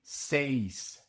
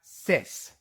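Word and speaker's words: seis: You must pronounce the e and the i in say. It is not sis.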